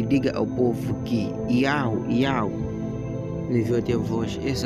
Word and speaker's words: Yahweh: Então esse é o nome do Criador, Yahweh, e até hoje esse nome é pronunciado assim lá na terra de Israel. Yahweh, que é o nome verdadeiro do Criador, que